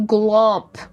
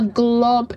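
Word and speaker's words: glomp: just like Jack is going to glump.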